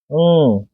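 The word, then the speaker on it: ङ: बोलेंगे देखो यहां पे इसको अड़ बोलते हैं क्या सिखाया जाता है अड़ ये अड़ नहीं है ये अं है क्योंकि सभी का उच्चारण स्थान कंठ है क वर्ग का जब ये क वर्ग का है तो इसका उच्चारण स्थान भी कंठ ही होगा तो इसका उच्चारण स्थान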